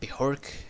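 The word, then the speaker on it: Björk: of B bork now I know how to pronounce her name bihork this album reminds me a lot of her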